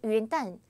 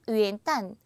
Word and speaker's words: 元旦: 그 다음에 C는 元旦. 한 번 더 시작. 元旦. 중국어는 리듬이에요, 여러분. 그래서 2성, 4성이라고 이런 것이 아니라 元旦 이렇게 리듬으로 공부하시면 제일 좋아요.